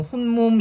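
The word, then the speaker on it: 홑몸: 자, 제가 강조하기 위해서 홑 몸 이렇게 말씀드리는 거고 물론 정확한 발음은 혼몸 이렇게 되기는 하는 거죠.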